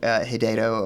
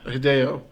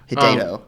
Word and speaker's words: Hideto Ogata: No, Hideto Ogata. Hideo. Hideto. Hideo.